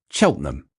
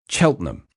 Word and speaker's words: Cheltenham: Let's start this story at the suit shop in Cheltenham. Um that is spelt Cheltenham, or looks like it would be pronounced Cheltenham, but pronounced Cheltenham. Cheltenham.